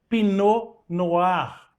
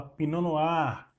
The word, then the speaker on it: pinot noir: conhecida entre as brancas pino no ar não é pinot noir stali pinot noir mas você fala pinanoar então procure conhecer aquilo